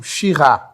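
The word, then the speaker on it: Syrah: cab vinh você falou sir isso e Alguns chamam xir isso você falou sir tem diferença nessa pronúncia ou não existe uma diferença de estilo tá a casta é a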